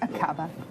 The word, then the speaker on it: Aqaba: Akaba? Is that how you would pronounce it? Yes, Akaba.